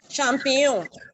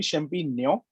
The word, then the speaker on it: champignon: So I think the GN is the near sound, right? So is it champignon or champignon? I'm not Champignon. sure about Nyon. champignon. Nyon. Okay, Nyon. champignon. It's All right. a G N mix. The sound is G N mixed together.